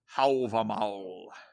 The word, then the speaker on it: Hávamál: Waggoner had translated, it looks like Hávamál to me. I asked him how to properly say Hávamál. Hávamál.